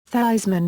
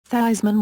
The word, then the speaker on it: Theismann: Notre Dame publicity man Roger Valdiserri insisted that he changed the pronunciation of his name to rhyme with Heisman, Theismann recounted later, but he finished second to Jim Plunkett of Stanford University.